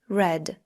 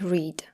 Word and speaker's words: read: had had czytać read Red r mówić say said said I Warto zwrócić uwagę na czasownik read w czasie Past Simple ma taką samą pisownię jednak wymowa jest inna read r przenosić Bring kupować